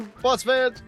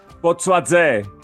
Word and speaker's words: Botsvadze: as our guest Botsvadze. Can you tell us the website one more time? botsvadze Oh, botsvadze. Okay. Now, the Z is pronounced.